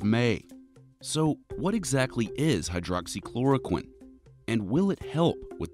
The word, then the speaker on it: Hydroxychloroquine: In the past few weeks, we've been hearing these six syllables over and over again. Hydroxychloroquine.